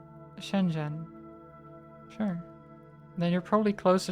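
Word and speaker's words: 深圳: Shenzhen you know like you're talking to your best friend Jen Shenzhen.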